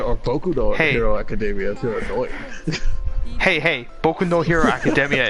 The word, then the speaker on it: Boku no Hero Academia: Kudo academia hey hey boku no hero academia is how it's pronounced thank you very much